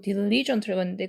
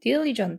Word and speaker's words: diligent: AS 쓰고 diligent라고 써요 제가이 발음이 자꾸 뒤쪽에 강세를 주는게 습관이 돼 버려지고 diligent는데 그게 아니고 diligent 돼가지고 디의 강세 주시면 됩니다 jak is not AS